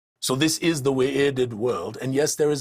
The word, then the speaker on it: Wy'rded: So when you see two U's together, for example, like in Thu'ul, it is not Thu'ul, it is Thu'ul, is how it is pronounced, right? So you give a little pause there. So in this case, it is not the Wy'rded world, it is the Wy'rded world.